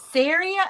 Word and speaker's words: Sarah: Is it Sarah or Sierra? Sarah. Sarah. I know. That's what I mispronounced her name when I saw it. I think Sierra in my head. I don't know why, but it's Sarah Tano.